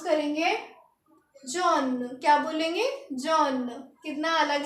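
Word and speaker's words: jaune: तो येलो को हम लिखेंगे ऐसे और इसको प्रोनाउंस करेंगे जॉन क्या बोलेंगे जॉन कितना अलग लग रहा होगा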